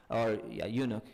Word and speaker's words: eunuch: Okay, so she wrote a book called The Female Eunuch, Eunuch, in 1969. Anyone know what a eunuch is? Am I pronouncing it correctly?